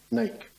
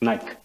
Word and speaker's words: Naik: Naik. Is that pronounced correctly? We'll accept it for now. It's Nike. Oh, Naik.